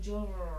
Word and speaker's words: Mjolnir: It's called Mjolnir. You don't pronounce the J.